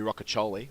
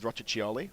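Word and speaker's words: Rocchiccioli: That's how you say it. Rockoli. Yeah, we wanted him to go with Roachioli. Yeah. On the podcast, but no. Rockoli. No, it's Rockoli.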